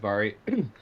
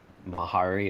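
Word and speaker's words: Mhairi: name is spelled m-h-a-i-r-i but in gaelic mh makes a v sound so instead of mahari it's vari so that's what i'm referring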